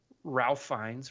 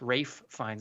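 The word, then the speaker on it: Ralph Fiennes: and then you have Ralph finds Rafe finds I believe is how he pronounces it playing Chef slowik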